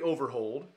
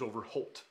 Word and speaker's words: Overholt: by his son now it was over hold not holt the anglo new way of pronouncing that is over holt but when they started it was overhold well then his son took